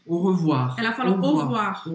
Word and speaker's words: au revoir: Eu acho que ela não pronunciou nenhum dos dois R's. Au revoir.